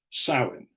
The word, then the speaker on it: Samhain: A lot of people think it comes from a Celtic festival pronounced Samhain, which means summer's end.